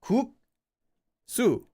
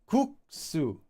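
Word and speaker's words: 국수: Cooksu. Noodles. Cooksu. Coo. Cooksu. Cooksu. Notice how it's stressed. You get the You get this sound by itself. Cooksu.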